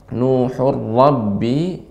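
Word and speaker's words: نُوحٌ رَّبِّ: Ya, kemudian nuhur rabbi la tadhar, ra-nya tebal.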